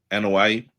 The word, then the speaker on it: Anoa'i: Roman Reigns, I'm sure Joe, how do you pronounce his last name? Anoa'i. I'm sure Joe Anoa'i is sick and tired of hearing this comparison because it's not a good comparison.